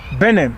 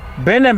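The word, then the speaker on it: Benam: Benham. Yeah, of course. Benham. How do you spell it?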